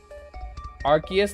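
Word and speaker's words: Arceus: good things in here archus that's the official pronunciation by the official Pokemon company I don't want to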